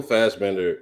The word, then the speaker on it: Fassbender: Michael Fassbender is Fast.